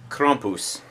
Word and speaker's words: Krampus: technology anyway the the Krampus or as some people say kumus or as you're supposed to say kumus that's how you actually say it um I think somebody's